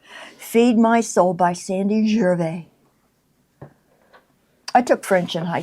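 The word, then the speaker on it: Gervais: on the salvage Sandy Jerv. See I'm saying pronouncing it French. Jer it's Sandy Jer.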